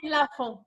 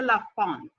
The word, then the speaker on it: Lafont: Why don't you say Lafont? People want to say Lafont. Why? Because in French you don't say the T.